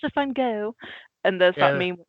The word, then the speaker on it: Gogh: It's Gogh. You're mispronouncing it in the French way.